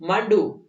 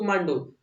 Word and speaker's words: मांडू: we shall go टू मांडू यहां पर मांडू की स्पेलिंग ऐसी लिखी है एम ए डी यू इसको मंडू मत पढ़ना ये मांडू है ठीक है ना एक